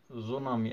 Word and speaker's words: tsunami: वहीं का वर्ड है, tsunami actually it is ts, that is why t is silent, that is why we write ts at its first।